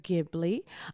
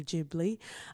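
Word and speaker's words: Ghibli: film indeed um yes it's studio gibli um we know it's very cute that it's like a mispronunciation with the accent saying jibli um but we do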